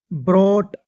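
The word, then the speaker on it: brought: ब्रोट बी आर ओ यू जी एच टी। यहां पर जी एच T silent है। आ गई बात समझ में? उम्मीद है और टी से पहले ना मोस्टली जो है जी एच साइलेंट रहता है।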